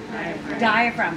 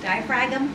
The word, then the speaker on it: diaphragm: this muscle right here diaphragm spelled with the G we could pronounce it like we should die frag them right to remember to